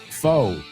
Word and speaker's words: faux: Faux. Se escribe faux. Es una palabra francesa. Faux.